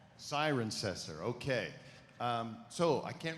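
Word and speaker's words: Cirencester: do you pronounce that it's siren cester siren cester okay um so I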